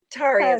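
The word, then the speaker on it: Tarja: Bien, Taria or Taria. Taria is how you say it.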